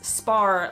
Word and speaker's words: Spar: Turns out it's spelled S-P-A-R. I would call it spar. They call it, with their accents, it sounds to my ears like spa.